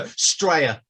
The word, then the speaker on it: Australia: Does anyone know how we pronounce the name of our country? Australia. No. Oh, no, Straya.